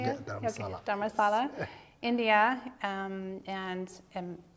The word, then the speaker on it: Dharamsala: Dharamsala.